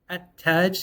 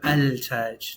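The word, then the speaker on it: التاج: And they actually did this because it's easier to say at-taj instead of al-taj. Too much work to go from the lam to the T.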